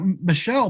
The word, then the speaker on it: Michelle: I will apply the coupon code so that, is your name pronounced Michelle? Yes. Or is it Michael? Michelle. So that Michelle, by the way, he